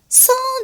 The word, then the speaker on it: sans: Sans difficulté. Sans difficulté. هنا حرف الأس في آخر كلمة sans لا نلفظه. باللغة الفرنسية كثير من الكلمات لا تلفظ أواخرها أو لواحقها.